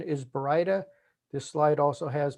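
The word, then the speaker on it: Baryta: very difficult name for people to pronounce correct pronunciation is brida this slide also has berida burrita berida barda bioarta berita i guess harry potter reference and then of course burrito because people can't remember brida but it is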